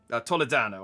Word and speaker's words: Toledano: Toledano. I should pronounce his name right.